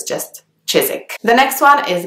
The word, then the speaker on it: Chiswick: you would pronounce it Chiswick but the W is silent so it's just Chizik the next one is